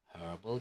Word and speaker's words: herbal: herbal drinks herbal drinks I want to hear the H herbal drinks okay very good now